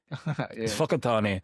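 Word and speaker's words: Whakatāne: Like wakatan. Fuckat. Well to be fair no one's going to assume that a W and an H makes an F sound. We didn't invent it. The white missionaries did. Oh, you know why? Okay. The cleverness of it is that certain tribes said an F sound and certain tribes said a W sound for the same word.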